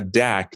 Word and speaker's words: dak: on a mail train which in hindi is called a dak d-a-a-k you want to pronounce